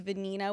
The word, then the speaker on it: Venina: sophia franco franklin and my middle name is venina which rhymes with sophia so it was sophia